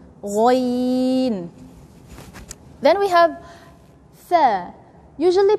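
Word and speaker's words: غ: Then ghoin is from the throat, but it's closer to the tongue. So we pronounce it strong. Say ghoin.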